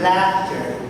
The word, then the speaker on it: laughter: These two, I hope you can open your mouth a little bit wider.